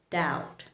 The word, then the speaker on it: doubt: So, whenever there's a T along with the letter B in a word, you need to remember you can't pronounce the letter B.